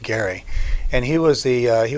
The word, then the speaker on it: Gerry: his name is Garrett last name is pronounced Gary and he was the